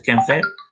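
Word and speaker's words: ChemFET: Chemical ChemFat, normally we pronounce as a ChemFat, right?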